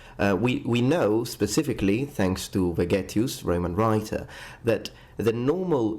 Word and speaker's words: Vegetius: Again, according to Vegetius, or Vegetius if you want to use ecclesiastical pronunciation for his name, weapon training was so